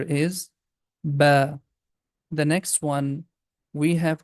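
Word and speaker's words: باء: The next letter is ba. We can also write down here. It's very easy. Starting with letter B, like that, we are going to pronounce ba.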